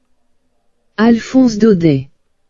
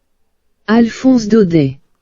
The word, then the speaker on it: Alphonse Daudet: Alphonse Daudet. दोबारा बोलूं? Alphonse Daudet. तो भाई इसकी फ्रेंच प्रोनाउंसिएशन कुछ ऐसी, ठीक है।